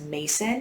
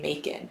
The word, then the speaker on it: Macon: your enemy like oh your name rhymes with bacon and i don't i just don't like the name macon i think mason saint